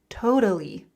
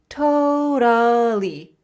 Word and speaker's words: totally: Totally. Totally. Totally. Again, that flap t, that d sound. Totally.